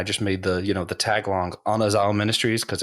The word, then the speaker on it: Anazao: So it's technically pronounced Anazao because there isn't like an eh sound in like the Koine Greek, which is really difficult. So we pretty much all say Anazao anyway.